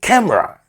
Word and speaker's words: camera: The E is silent. Therefore, say camera.